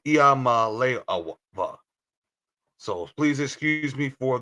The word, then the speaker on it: Iamaleava: It's Iamaleava. So please excuse me for the pronunciation of last names because sometimes I am bad with last names.